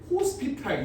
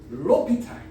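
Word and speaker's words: L'Hôpital: 로피탈이 사람 이름이야. 근데 L 호스피탈 이지라야. L 병원. 로피탈. S는 묵음입니다.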